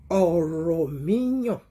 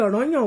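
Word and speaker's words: Ọ̀rànmíyàn: Kì í ṣe ọ̀rọ̀ yàn o, ọ̀rọ̀ míyàn. Bó ṣe ń pronounce orúkọ yẹn gangan nìyẹn. Bá ṣe ń pè é nìyẹn, ọ̀rọ̀ míyàn. Ṣùgbọ́n àwọn kan, ẹ̀yin kan, tẹ́ ẹ̀ mọ̀ túmọ̀ orúkọ, ẹ̀ ń pè ní ọ̀rọ̀ yàn.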